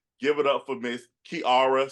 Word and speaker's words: Kiara: It is Kiara. And she's going to be sure to tell you that it's not Kiara, it's Kiara.